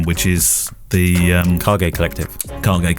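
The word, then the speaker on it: KAGE: Cargate Collective, isn't it? That's the correct pronunciation of it.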